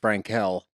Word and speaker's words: Franquel: Frankwell. Yeah, we did do a hashtag Frankel, is how it's pronounced.